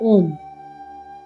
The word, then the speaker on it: ओम: ओम तीन शब्दों से मिलकर बना है। अ, उ और म। इसकी वाइबेशंस आपके अगर आप चट करोगे आपके स्टमक में आएगी, चेस्ट पे आएगी और फोरहेड पे आएगी। अ का उच्चारण हमेशा स्टमक में आएगा। उ का उच्चारण चेस्ट पे आएगा और म का उच्चारण माथे पे यानी कि थर्ड आई पे आता।